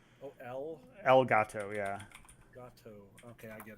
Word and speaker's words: Elgato: dollars did you say algato yeah like how do you spell that um like spanish for the cat elgato yeah gato okay i